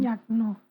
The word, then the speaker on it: Nyakno: Did I pronounce that correctly? Yakno.